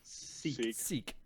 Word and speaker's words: Sikh: What's the proper pronunciation of the religion? Sikh.